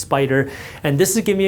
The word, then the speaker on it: SPDR: SPDR is pronounced Spider.